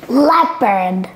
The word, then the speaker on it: leopard: Cody, can you help us pronounce this? Leopard.